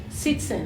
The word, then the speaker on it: citizen: We write with Z, but it looks like the sound is C, right? Citizen. Yes, citizen. So do we have the Z sound or not? Citizen. It looks like citizen. Actually, that's a good thing to think about. So I think some people would say citizen with a S sound, and probably a lot